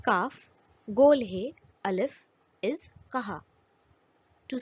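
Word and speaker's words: کہا: Chhoti Kaf, Gol Hai, Alif is Kaha, to say. Chhoti Kaf, Do Chashmi Hai, Alif is Kha, to eat. In the first example, the sounds of Chhoti Kaf and Gol Hai are pronounced separately.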